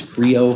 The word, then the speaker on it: CREO: compatible renewable energy ordinance cre is creo how it's pronounced c